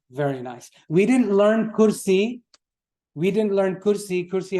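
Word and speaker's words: كرسي: Kursi, the word kursi, it's pronounced not kursi, like in Urdu. We don't, in Arabic, it's kursi. You stress the ya at the end.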